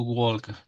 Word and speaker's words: walk: Dog owners are expected to use leashes to walk their dogs were required by law. Were required by law. Good. Walk. We do not pronounce the L.